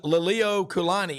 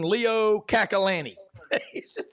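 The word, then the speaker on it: Liliuokalani: He just butchered pronunciations. Queen Lilio Kulani in Hawaii, he called her Queen Leo Kakalani.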